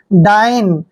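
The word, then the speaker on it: dine: बहुत important word है डी आई एन ई देखिए डी का उच्चारण हम क्या कर रहे हैं ड और आई को हम क्या पढ़ते हैं आई पढ़ते हैं और एन ई का उच्चारण न करते हैं डाइन डाइन होता है भोजन करना डाइन मींस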